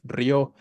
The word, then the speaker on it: rio: dio vi monosílabo mes Rio aquí no dice río eh aquí dice Rio vale porque si dijera río sabemos que la sílaba tónica sería la i y habría un yato y tendríamos que tilar vale entonces todas estas